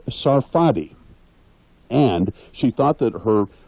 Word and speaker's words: Sarfati: a great talent Lea's real last name is pronounced Sarfati and she thought that her real first name